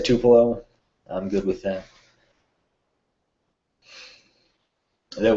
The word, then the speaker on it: Tupelo: f3 that went through tupelo or to payload to pillow i guess there's like eight different pronunciations but the locals say tupelo i'm good with that